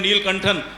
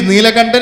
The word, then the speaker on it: Neelakantan: तो I congratulate your parents have actually kept your name Neelkantan. I will definitely pronounce Sir, it better. actually it is Neelakantan is my father's name.